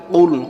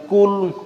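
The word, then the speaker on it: قُلْ: কুল কুল কুল সঠিক উচ্চারণের সঠিক অর্থ হবে বলো তিনি আল্লাহ এক অদ্বিতীয়। আর যদি কুল না বলে যদি বলেন কুল গলার ভিতরে না নিয়ে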